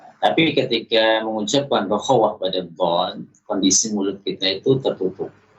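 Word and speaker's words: ض: Wa tafkhimiha, juga tidak memperhatikan dalam menebalkan dhad. Jadi pengucapan dhadnya kurang tebal. Padahal dhad ini di samping dia memiliki sifat isti'la, ya, konsekuensi dari sifat isti'la itu adalah suaranya, suara yang keluar itu menebal.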